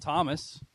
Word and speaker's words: Thom: We're not pronouncing the H when we say Thomas.